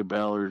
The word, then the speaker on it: Balor: want to call it I say Balor just because of the way I'm used to pronouncing it from the wrestler who uses the players of his name is a pretty freaking